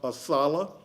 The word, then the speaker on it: ASALH: The acronym is pronounced ASALA.